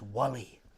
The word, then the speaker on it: Wally: My name's Wally, which rhymes with gully, which is something that is dark and deep.